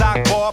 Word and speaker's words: Akbar: spell it as well it goes a to the k be the a the r my name is akbar but some say bizarre i thought i wouldn't